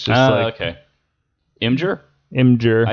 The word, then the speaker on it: Imgur: Imgur. I say Imgur. Well, I hear it's actually pronounced Imager.